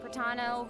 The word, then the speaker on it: Pratano: Hey everyone, I'm Pratano, rhymes with Capitano, the voice of Child's Master, Skirk.